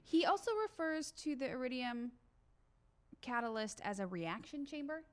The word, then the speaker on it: iridium: He's also pulling hydrazine and how do I pronounce this? The catalyst, the iridium? Yeah, iridium.